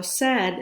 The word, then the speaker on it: said: So said is spelled S-A-I-D.